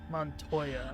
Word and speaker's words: Montoya: to remember more montoya try montoya okay that's how you pronounce her name guiding me like a